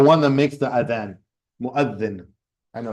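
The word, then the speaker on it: مؤذن: Mu'adhin. Yeah, you have to stick your tongue out a little bit from the word that or the letter. Yeah. Mu'adhin.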